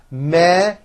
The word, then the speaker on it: measurements: Measurements has the voiced zh sound. Measurements.